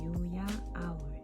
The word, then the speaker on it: UYAOWL: 그냥 대문자 유로 하고 유야 아울 이렇게 해서 제 애칭과 부엉이의 합성어입니다. 유야 아울을 처음 들으시면 유아 아울, 유아울, 유야올, 여울 이렇게 다양하게 발음을 해주시는데요. 제가 만든 합성어이고 발음은 유야 아울입니다.